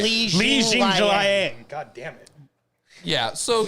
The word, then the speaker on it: Jingliang: We used to call Liang Jingling. Yeah, we used to think that was his last name, and it's Jing Liang.